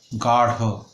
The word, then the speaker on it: গাঢ়: যেমন আমাদের রাঢ়ি, গাঢ়, শাড়ির রং গাঢ়, তখন কিন্তু উচ্চারণ আরও গভীর এবং ভারী হয়ে যাচ্ছে।